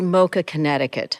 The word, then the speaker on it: MoCA Connecticut: Well, we would like it to be MoCA Connecticut. Okay. Unfortunately, everyone likes to, give these abbreviations to it. So we end up being MoCA CT, but we would prefer it to be MoCA Connecticut.